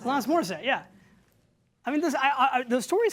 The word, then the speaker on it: Alanis Morissette: Alanis Morissette. Alanis Morissette.